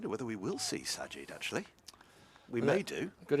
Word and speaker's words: Sajid: but uh I made I have mispronounced him a couple of weeks ago but I briefly referred to him as in the same way as the mayor of London I got confused Sadiq with Sajid I don't know whether